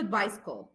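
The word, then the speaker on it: bicycle: طب امتى بنطقه س؟ امتى بتبقى ايكوال اس؟ لما بيجي بعدها اي اي واي، زي كلمه بايسكل، كلمه بايسكل السي لما جه بعدها الواي بقت س.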